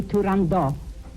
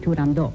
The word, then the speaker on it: Turandot: So there's no reason to not pronounce that final T at the end.